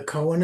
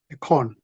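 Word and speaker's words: koan: Do you know what a Cohen is? Cohen. A con. Cohen. No. It's spelled like never.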